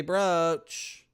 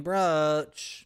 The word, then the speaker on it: brooch: Okay, we're gonna say brooch. We're saying brooch. Both are correct.